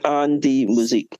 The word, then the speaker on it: An Die Musik: and the DIE only pronounced the letter D has the German. The IE just disappears. So it actually has on. AN is on, DIE is pronounced has B, and MUSIK has music. So it's An Die Musik.